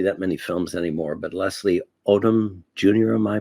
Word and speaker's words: Leslie Odom Jr.: I don't see that many films anymore, but Leslie Odom Jr., am I pronouncing his name correctly?